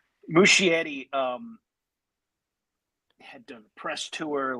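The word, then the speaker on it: Muschietti: Um, I mean, Andy Mushetti, how do I pronounce this guy's name? Mushetti. Mushietti.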